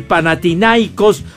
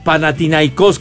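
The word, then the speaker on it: Panathinaikos: dos a uno al panathinaicos o pana tinacos como también le pronuncian pero orbelín Pineda metió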